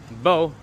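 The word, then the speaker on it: bò: Okay, Phu, Bo, Phu. Don't ask why a B is pronounced like a P, you know, you'll just have to get used to it.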